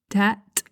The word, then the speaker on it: debt: If you Google a word, for example, 'debt', that's a commonly mispronounced word. Don't pronounce the B!